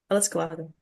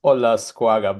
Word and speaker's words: Olascoaga: Alascoago. It's Ola Squaga, but it's really complicated.